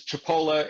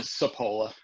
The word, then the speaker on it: Cipolla: I saying it right the sicilian pronunciation is Chipola it got Americanized too Cipolla it actually means onion